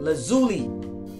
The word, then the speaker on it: lazuli: My daughter told me how to pronounce it. Lazuli. The lapis lazuli stone.